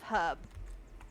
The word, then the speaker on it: herb: Why' you all say herb instead of herb? Oh my god. Yes, please. I don't know. You all say herb? Where' you? They're sat there saying we don't pronunciate the like the of or the f in a bottle of water, but they don't pronounce her properly. Like you missed the H.